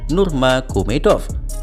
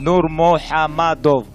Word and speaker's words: Nurmuhammadov: Jadi nama marga Khabib sebenarnya adalah Nurmuhammadov dan bukan Nurmagomedov. Meskipun ia tidak menolak jika dipanggil Nurmagomedov, tapi sebagai fans saya perlu mengikuti pelafalan idola saya.